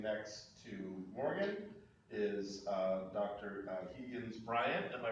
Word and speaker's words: Bryant: Bryant. Am I pronouncing that correctly?